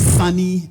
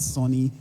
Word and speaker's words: Sonny: It's Sunny and not Sonny. Yeah, spelled as S-O-N-N-Y.